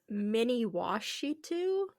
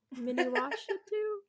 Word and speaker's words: Miniwashitu: Yeah, but it's the mini washi tu. So, it's like mini and then wash and then it too. Mini washi too.